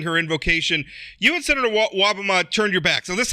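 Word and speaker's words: Wobbema: Republican state senator, Senator Wobama. Am I pronouncing that? That's correct. That's correct.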